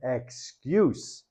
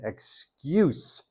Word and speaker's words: excuse: you know not only the pronunciation differences between excuse and excuse that identifier is attached here with the noun in the sentence again I have an excuse an excuse can you hear the difference I have an excuse